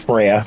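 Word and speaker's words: Freja: Actually, it's pronounced Freya, but nonetheless.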